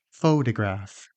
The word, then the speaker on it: photograph: Did you get stress on the first syllable? Photograph.